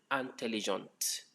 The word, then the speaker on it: intelligente: Again, last E in intelligent not pronounced.